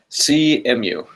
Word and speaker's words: Cemu: Cemu.